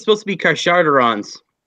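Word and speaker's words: Carcharodons: Carcadons? Am I pronouncing?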